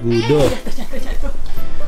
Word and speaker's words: Gudo: Tuh Gudo bacanya. Abang bobo di sini ya? Bacanya Gudo.